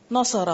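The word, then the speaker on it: نصر: उसको लंबा खींच रहे आप हमेशा दरमियान वाले कलमे को अगर आप सही पढ़ेंगे तो पूरा लफ सही प्रोनाउंस होगा नसरा नसरा नसरा नसरा नसरा नसरा अब कितना वाज फर्क है वरना ना सारा सा को लंबा करेंगे तो खुद ही साउंड बिगड़ जाएगी अगली भी नसरा नसरा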